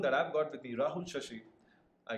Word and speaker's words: Rahul Shashi: To talk more on that, I've got with me Rahul Shashi. I pronounce his name correctly. Yeah. Rahul Shashi, who is the founder of CloudSafe, a Bangalore-based cybersecurity startup.